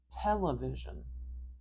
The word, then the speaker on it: television: stress is television television I hear the stress in this first syllable so I'm going to put this little straight apostrophe here and that tells me that the tell television is the strongest part you might also hear that the v v like this syllable here is also loud and clear it is but it's not as loud and clear as the tell at the beginning television now if someone